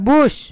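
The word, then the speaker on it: bush: ষাঁড় তো ছবিতে তারপরে বলো বাস বি ইউ এস এইচ এটা বাস না এটা হলো বুশ ঠিক আছে ইউটা এখানে হাস্যুর মতো উচ্চারণ হচ্ছে না বি ইউ এস এইচ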